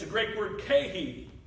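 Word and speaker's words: καί: And then when I learned the end that's in between these words, it's a Greek word, kai. It's spelled K-A-I.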